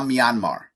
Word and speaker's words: Myanmar: I've not clicked on a single article about the protest or the situation of Myanmar. I don't even know how it's pronounced. Myanmar. It used to be Burma. It is now Myanmar.